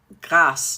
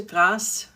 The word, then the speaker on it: Grasse: Have any of you been to Grasse? g r a s s e. The French pronounce it Grasse. Uh some Americans call it grass.